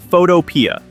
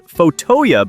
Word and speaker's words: Photopea: This is Photopea. Mispronounced as Photoya by some, this is an advanced web app that runs entirely inside your favorite web browser.